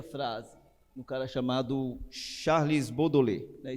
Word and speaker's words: Baudelaire: Olha aí essa frase, um cara chamado Charles Baudelaire, né? Escreve de outra forma, mas essa é a pronúncia, né?